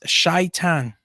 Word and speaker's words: Satan: The Satan is shaitan. That's the actual pronunciation, and the meaning of the word is the adversaries.